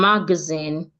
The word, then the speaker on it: magazine: these words states that some trisyllabic words are naturally stressed on their 2nd syllable. Like in magazine, recommend, and understand. So for these words, the first one, magazine, we have 1 syllable, 1 schwa. Somebody smoking.